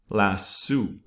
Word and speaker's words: LASSO: because of my background the American pronunciation is last sooo last soo the British pronunciation is last so last so so you decide how